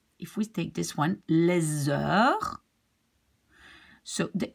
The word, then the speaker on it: les heures: and then, well, the next one is a vowel, so we have to link this S to the vowel. So this we pronounce les heures.